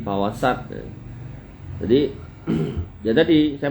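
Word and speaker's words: فوسطن: Yang bener apa? Nah, yang bener sin fawasat.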